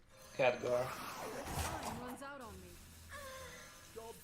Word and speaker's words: Khadgar: You would pronounce it Khadgar? No, Khadgar. Khadgar.